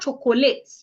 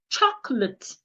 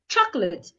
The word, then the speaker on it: chocolate: It's not chocolate. Chocolate. The second letter O is silent. The letter E is also silent. Ch not to. Can you see my manner of articulation? Chocolate.